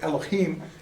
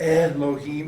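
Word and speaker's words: אֱלֹהִים: Like when we're going to look at the word Elohim, it's not Elohim, it's Elohim. See? I still want to do the chim thing.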